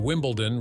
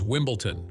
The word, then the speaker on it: Wimbledon: the Final Jeopardy round instead of saying Wimbledon Reed pronounced it as Wimbleton host Alex tbec following